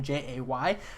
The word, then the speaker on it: Jae: Diane Nelson is pronounced just exactly like J. It's just J-A-E instead.